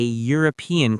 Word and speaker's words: European: A European country. Sounds like y, consonant.